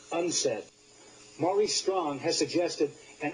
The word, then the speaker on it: UNCED: for Environment and development it is pronounced unsaid Maurice strong has suggested